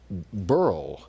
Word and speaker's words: Beryl: 19, uh, mid eighties, it used to be pronounced burrow, not barrel, I remember or, or both ways. But now we know this barrel and by the way, the statistics on this